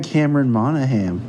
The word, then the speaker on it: Cameron Monaghan: even Cameron Monaghan, that's how you say his name?